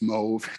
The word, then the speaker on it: Mauve: or sometimes it's pronounced mauve depending upon a germanic or french pronunciation but i usually say